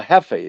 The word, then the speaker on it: Majeski: No, that's how Hefe that's pronounced. Oh, Hefe, my bad. What did I say? Yeah. I don't know what you said. Okay. I think you pronounced the J like a J.